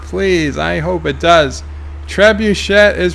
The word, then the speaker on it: trebuchet: Dells Ruby movie says it's pronounced tray bouche a trebuchet thank you miss alone